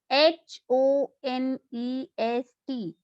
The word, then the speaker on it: honest: Spelling of honest is Honest, but we pronounce it honest, not honest. Starts with consonant letter, but sound is of vowel because H is silent here.